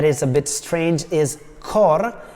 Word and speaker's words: cor: a bit strange is cor is a poetic version of the Italian word which means heart it has only one syllable so it fits better into the metric trema trembles me is